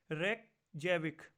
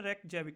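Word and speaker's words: Reykjavík: रेकजैविक। क्या नाम है? रेकजैविक।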